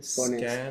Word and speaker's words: Skåne: Skåne.